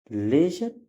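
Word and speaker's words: leisure: एल ई आई आर इसको लेजर या लीजर दोनों पढ़ा जाता है जिसका मतलब अवकाश होता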